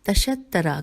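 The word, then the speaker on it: تَشَطَّرَ: کے لیے عربی میں تشترا کا لفظ ہجے کر دوں، تے پہ زبر، شین پہ زبر، توئے پہ تشدید اور زبر، اور پھر را کے پھر زبر.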